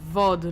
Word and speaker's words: VOD: heavy uh do I it's pronounce VOD like POG don't tell me what